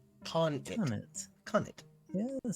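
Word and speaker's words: khanate: Oh, Aguma Bear says the domain of a Khan, like Genghis Khan, but pronounced like Khan-it. Khan-it.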